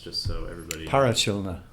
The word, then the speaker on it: Parachilna: Um, First of all, just wanted to talk about your new album, and how's it pronounced, just so everybody. Parachilna. Parachilna.